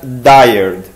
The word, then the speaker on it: dired: directory editor which is abbreviated as dired at least that's how I pronounce it in the same way we use words like tired mired wild etc so that what